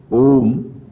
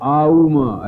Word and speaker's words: ओम: समझ में आ जाएगा ऐसे बोलो जो आम ऐसे बोलते हैं ओम बोलते हैं ना तो आऊमा ऐसे तीन अक्षर है इसमें उसी क्रम से इसका उच्चारण भी होता है और थोड़ा री